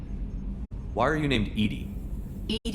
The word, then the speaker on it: EDI: are you named Ed Ed is the phonetic pronunciation of e di that is an acronym for enhanced defense intelligence what do you do